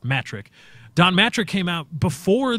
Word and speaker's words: Mattrick: on the pronounce pronunciation it's not much trick its matric Don Mattrick came out